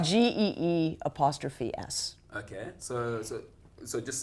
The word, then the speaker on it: Gee's Bend: My pronunciation. The youth will know. Terrible. The youth will know. It's GEE''S.